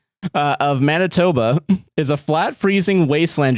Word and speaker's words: Manitoba: It is pronounced Manitoba.